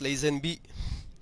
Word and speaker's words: Lazenby: what it says from capcom artist georgie leizanvi pronounced lazenby this is what he says thinking resident evil